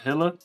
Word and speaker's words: Gila: some ancient story like do you guys know of gila or Hitler I thought I heard them pronounce it both ways do you guys know the story about Hilla the monster or is